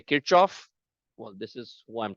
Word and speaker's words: Kirchhoff: In India, we call this as Kirchhoff. It's a German physicist. The actual German pronunciation for this name is Kirchhoff.